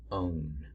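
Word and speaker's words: -one: it's gonna end in it's actually pronounced own not one but Oh books eyes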